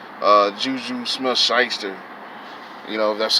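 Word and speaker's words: Smith-Schuster: these these like uh juju smith scheister you know that's how you pronounce his name talking about allegedly that he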